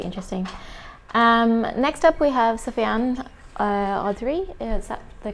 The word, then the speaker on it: Sofian Audrey: Next up, we have Sofian Audrey. Is that the correct pronunciation?